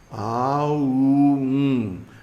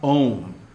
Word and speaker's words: AUM: They're long. A, U, M, not Om.